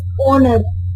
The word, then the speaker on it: honor: So H is a consonant sound, no doubt, but it pronounced as honor. Honor start with the O. So it start with the vowel sound.